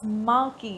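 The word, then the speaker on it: marquee: all these आर antonyms माकी इसको pronounce कैसे करेंगे माकी ठीक है नाउ द मार्की event return to India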